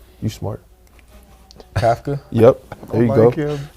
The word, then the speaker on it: Kafka: Kafka.